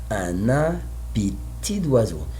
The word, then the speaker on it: un appétit d'oiseau: I don't say letter T in the end, but I have D, so the same little pronunciation is near of T, so I say un appétit d'oiseau.